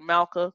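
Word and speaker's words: מלכה: always come at the end of a closed syllable so the schwa here and the word Malka Queen is under the lammott right so it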